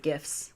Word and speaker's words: GIF: got several really good gifts I say gifts not gifs yeah because we're Team GIF over here I just keep rolling because you know graphic is in fact a hard G that's right lastly we